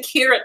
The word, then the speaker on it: Kyra: I was so heartbroken for Kyra, like the entire time, because even I think it's pronounced Kira.